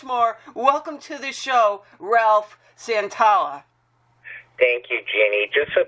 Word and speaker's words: Santolla: She said my name is Santolla earlier, and I had to tell her that Santolla rhymes with Roll Up a Dollar or Valhalla.